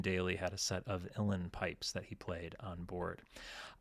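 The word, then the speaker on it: uilleann pipes: YouTube pointed out that I I was saying Ulen pipes because that again that's what it looks like. Um but it's pronounced illen pipes. So Eugene Daly had a set of illen pipes that he played on board.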